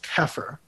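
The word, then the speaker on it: Xeper: For Aquino, the word is Kepher.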